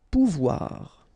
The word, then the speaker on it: pouvoir: O and U together, ou, pouvoir.